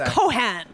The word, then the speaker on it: Cohan: did you like that just like that nice pronunciation he only says like eating all the times the movie it's cohan oh I'm not gonna make fun of him